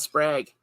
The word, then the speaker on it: Sprague: Rod Sprague. It's the holiday. I'm going to say it correctly. I'm going to say it correctly for him. It's like egg.